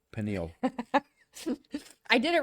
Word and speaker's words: pineal: The pineal gland. Did I say it right that time? No, pineal.